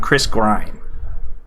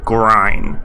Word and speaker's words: Grine: just looked it up according to this interview on youtube it's pronounced grind chris grime sorry mr grine if you're out there i didn't mean to disrespect you by mispronouncing your name okay back to the script